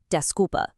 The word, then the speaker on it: desculpa: For that, all you need is a simple desca. This is your allpurpose go-to. Sorry. It's pronounced desca.